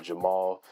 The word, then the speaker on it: JVMAL: It might look like a V, but it's just A upside down. So it's pronounced Jamal.